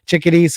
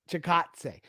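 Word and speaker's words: Chikadze: chickadees fight last uh why do i always say that about them i always used to pronounce it like that until i figured out how to pronounce it yeah yeah chicatse uh that was a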